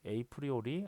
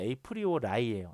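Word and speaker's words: apriori: 에이프리오리 알고리즘입니다. 에이프리오리. 예, 저희 발음이 좀 안 좋아요. 자, 정확하게는 에이프리오라이예요. 에이프리오라이 알고리즘.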